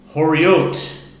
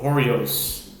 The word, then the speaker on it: Horayot: Daf Yomi, Tractate Horayot, or Horios, depending on your pronunciation. I think I'm going to stick with Horayot.